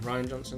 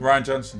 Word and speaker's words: Rian Johnson: like okay come on how you say his name Ron Johnson Rian Johnson here so we both went